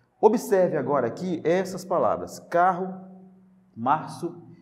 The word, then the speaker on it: carro: C-A-R-R-O, carro. Agora, observe que quando você pronuncia essa palavra, você não ouve o som desses dois R's, certo?